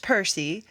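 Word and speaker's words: Purrsie: Percy, pronounced Percy, if you were reading this, it's spelled P U R R S I E in true cat lady fashion.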